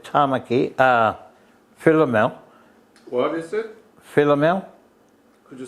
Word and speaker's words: Philomel: Philomel. Could you spell it?